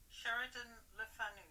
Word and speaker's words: Sheridan Le Fanu: Sheridan Le Fanu.